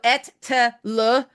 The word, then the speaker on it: Ettele: So Ettele to those of us Canadians, the Quebecois.